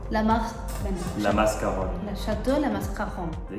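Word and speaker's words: La Mascaronne: How do you pronounce? Chateau? La Mascaron. La Mascaron.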